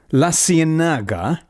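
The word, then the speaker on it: La Ciénaga: La Cienaga.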